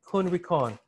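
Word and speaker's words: Kuhn Rikon: How do you spell that? Which one, the brand? K-U-H-N, R-I-K-O-N, Kun Rikon.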